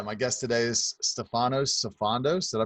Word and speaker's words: Sifandos: Yeah, my guest today is Stefanos Sifandos. Did I pronounce that right? Yeah, not too bad. Pretty close. Sifandos?